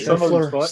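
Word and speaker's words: Seann William Scott: I say Sean William Scott. I don't know if that is how you say his name. It was. Yeah, it was. Sean William Scott.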